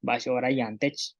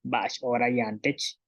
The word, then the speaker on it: ba'ax oora yaan tech: Y para decir qué hora es, bash hora yantech, qué hora es, bash hora yantech.